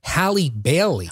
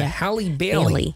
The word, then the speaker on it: Halle Bailey: have to make sure I say it right, Halle Bailey. Right, because you don't want to say I think it's Halle Berry, right? Yeah, Halle Bailey.